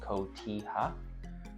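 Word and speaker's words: cotija: Kotilla is spelled c o t i j a but pronounced kota.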